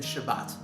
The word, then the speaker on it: Shabbat: in shabbos whereas asvari would pronounce it with the t as in shabbat many jews today pronounce